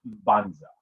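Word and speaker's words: Mbanza: would pronounce this is you would make the sound of the m and then the hard b so banza that's how it would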